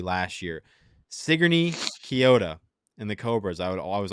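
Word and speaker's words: Sigourney-Keota: Sigourney Kyoto and the Cobras. I was always pronouncing it wrong, so I appreciate whoever reached out.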